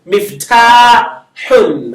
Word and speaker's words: مفتاح: So you see me and then fa is silent. Mif Mif. ta. The ta is elongated. Miftahun. Ha with the double vowel.